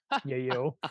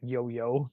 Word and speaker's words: Yayo: Tony yo of yayo Yayo I'm the worst of pronouncing Yayo I'm sorry Mr Yayo it's not yoyo um uh I knew